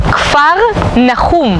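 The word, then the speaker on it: כפר נחום: Capernaum viene de dos palabras en hebreo, que se dice Kfar Nahum.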